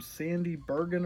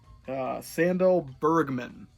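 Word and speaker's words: Sandahl Bergman: Sandy Bergen or something like that? Sandal Bergman.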